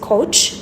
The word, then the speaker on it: coach: ኦኤ በጋራ ኦ ነው የሚል ነገር ቅድም ነግሬያችሁ ነበር። so this one is coach because A is silent and the O sound is at the middle of the word.